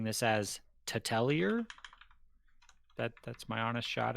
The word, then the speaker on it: T'Telir: was pronouncing this as titelier that that's my honest shot at it paul you want to correct him yeah you're really close it's like to tell her okay tell her similarly